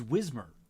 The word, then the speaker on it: Wismer: German name not immediately obvious is the S is pronounced as a Z. Oh, it's Wismer.